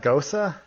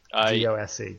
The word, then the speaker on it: Gose: Gosa? Yeah, That's how you pronounce the E at the end? Yeah, it's Gosa. Yeah. G-O-S-E, Gosa, got it. Yeah. I always thought it was pronounced Gose up until I heard somebody